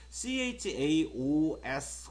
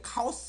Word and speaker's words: chaos: 그 다음에 우리 친구들이 이 동의어가 CHAOS 혹시 이 단어 아시는 친구들이 있나요? CHAOS 한번 읽어보세요. 이게 카오스 이렇게 읽어지죠? 실제 발음 기호서는 chaos라고 읽습니다.